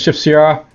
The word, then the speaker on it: Sipsia: With a stress on the first syllable, the Borks generally pronounce as Shipsia.